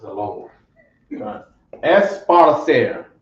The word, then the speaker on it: esparcer: Esparcer. Come on. Okay, sounds like sparsely a little bit.